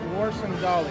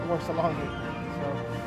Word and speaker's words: Warsangali: So we stopped going after Ageron and we turned our eyes to Warsangali. I found out that I have been pronouncing that wrong time. I've been calling it Warsalongi.